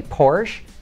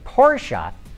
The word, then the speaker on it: Porsche: I used to say Porsche now I say Porsche because that is how Ferdinand said it Paul Phelps wonders why